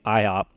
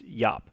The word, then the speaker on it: Iop: Very first one here is I always say IOP. From what I understand, the technical term for this is YOP. I believe that's the proper pronunciation of it, is YOP.